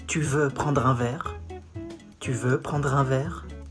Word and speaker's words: tu veux prendre un verre: You say, tu veux prendre un verre? Tu veux prendre un verre? Tu veux prendre un verre. Comes from the throat.